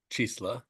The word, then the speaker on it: Cziesla: And would you tell us your name and how to spell it first and last? Sure. It's Chris Chisla.